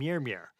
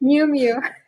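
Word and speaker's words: Miu Miu: Today, she runs an international luxury brand that supplies global fashion houses like Prada and Mirmir. Is it is that did I pronounce that right? Is it Mirmir? Miumu.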